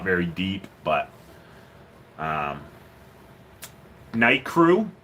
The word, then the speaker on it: Nicrew: It's not very deep, but um, Night Crew. It's spelt Nicrew, and it's a Hyper Reef 100.